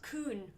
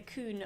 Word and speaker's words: Kuhn: Kuhn.